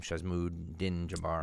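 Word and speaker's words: Shamsud-Din Jabbar: Shazmood Din Jabbar.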